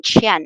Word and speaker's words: Qian: Qian pronounced exactly the same as money in China.